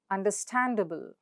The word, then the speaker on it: understandable: So what's the syllable right before the suffix? It's stand. So the syllable stand is stressed. So how do you say that? Understand. Understandable. Understandable.